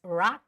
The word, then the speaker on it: rock: a mix of rock some Koreans might say r or yeah Ro but it's rock and roll right rock and roll